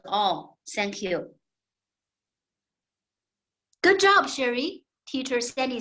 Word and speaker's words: Sherrie: practice my English name sherry no sorry no my name is so difficult but then I found a brilliant idea to solve this problem I changed my name but I didn't change the pronunciation I change it from